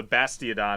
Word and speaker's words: Bastiodon: So Bastiodon, it's spelled phonetically.